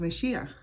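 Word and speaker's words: משיח: In Hebrew it's pronounced Mashiach.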